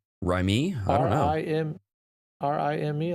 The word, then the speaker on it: Rime: But I started another game called Rime? Rime? I don't know. R-I-M-E. I think I would pronounce it just Rime.